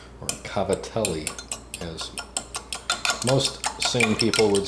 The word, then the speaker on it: cavatelli: Today, I wanted to show you how I make my homemade gavadil, or cavatelli, as most sane people would say. Apparently my Sicilian friend insists it is gavadil, even though it's not spelled like that.